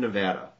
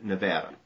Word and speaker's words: Nevada: Now, a lot of people mispronounce Nevada. Have you heard me say Nevada? Most of the whole country calls it Nevada. But if you ever say Nevada, it means you're not from Nevada. Only people who live here know how to say it and say it right.